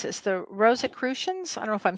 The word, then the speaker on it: Rosicrucian: The Rosicrucians? I don't know if I'm saying that right. Rosicrucian. Is that right? Astral travel. That's a Rosicrucian.